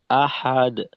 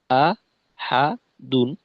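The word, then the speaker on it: أحد: যায় হা এর হরকতটা একটু দীর্ঘ হয় অর্থাৎ আহাদ হাদ হা যেন লম্বা হয়ে না যায় আ হাদুন আহাদ আহাদ এরকম কুলহুয়ল্লাহু আহাদ আহাদ আর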